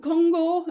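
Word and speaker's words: 金剛: And Mount Kongo, as they called it, Mount Kŭmgang, Kongo is the Japanese pronunciation of the same characters, was central to this project.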